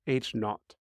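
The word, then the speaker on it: H₀: Sub 0 or h0 it's generally pronounced H not the alternative hypothesis is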